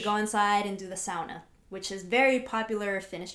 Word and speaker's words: sauna: i and i pronounced sauna because that's well because she's she's she's finished now that's the proper way to pronounce it do not say sana so i've been saying